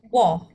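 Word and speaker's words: 워: Jadi ini bacanya W. Eh, sori. Wo. Oke. Wo. Boleh diulang, Kak. Wo. Wo. Betul. Heeh. Wo. Oke. Bukan W tapi W ya. Gabungan antara U dan O.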